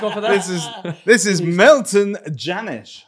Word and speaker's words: Milton Jannusch: This is Milton Jannusch, right? Yeah, right? I pronounced that correct.